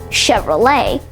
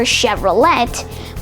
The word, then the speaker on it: Chevrolet: Next, we have the General Motors owned Chevrolet. You might be expecting it to be pronounced Chevrolet or Chevrolet, but it's actually pronounced Chevrolet.